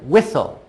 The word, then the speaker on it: whistle: working together what it then the T is silent and then all and